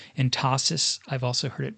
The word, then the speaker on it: entasis: swell in the center, and this is called entasis. I've also heard it pronounced entasis.